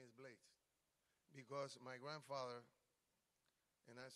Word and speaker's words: Blades: My father's father is English, and that's where Blades comes from.